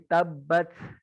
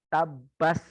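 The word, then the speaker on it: تبت: Kalau Yaman, dia lebih basah. Kalau antum mendengarkan murotal yang nanti jalurnya Yaman, bacanya gini, tabat yada abi lahabi wa tab. Dia lebih basah huruf ta. Yang salah, yang tidak ada periwayatan dari manapun adalah yang mendekati S dan C. Tabas yada nggak ada.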